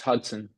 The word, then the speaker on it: Hudson: Is it Studson Judson or Hudson maybe? How is it? Oh, yes, it's Hudson.